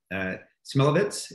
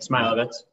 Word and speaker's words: Smilovitz: Our second guest is Smilovitz. Is that the right pronunciation? Yep. Great. Smilovitz, however.